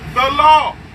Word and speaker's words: Gullah: Gullah, the proper way to pronounce Gullah is the law.